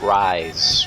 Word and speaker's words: Ryse: to admit and uh it's spelled r-y-s-e so it's not the traditional rise it's rise whatever they spelled it